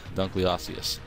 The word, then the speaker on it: Dunkleosteus: Dunkleosteus, that thing.